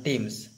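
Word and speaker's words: Thames: কীভাবে নদীটা বয়ে যাচ্ছে, নদীটার নাম কি, নদীটার নাম টেমস, দ্য উচ্চারণটা কিন্তু টিএইচ দিয়ে বানানো হলেও উচ্চারণটা হবে টেমস।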